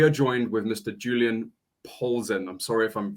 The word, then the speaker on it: Polzin: Julian Polzin. I'm sorry if I'm pronouncing your your name. Is it Polzin? You You pronounce it right?